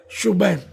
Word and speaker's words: شبیر: تو ہے نہیں، حسن، اور شبیر شبیر نہیں بلکہ اصل تلفظ ہے شبیر۔ تو یہ ہو سکتا